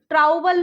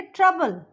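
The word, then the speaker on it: trouble: देखिए यहाँ पे टी आर ओ यू बी एल ई, ट्राउबल नहीं बोलेंगे, इसको हम बोलेंगे ट्रबल. यहाँ ओ साइलेंट हो गया.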